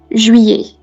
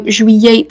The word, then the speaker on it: juillet: that word in French, juillet. If they pronounce it incorrectly, they can't move. If they pronounce it correctly, they can move. Again, you can differentiate by using familiar sounds. So juillet, the two L's.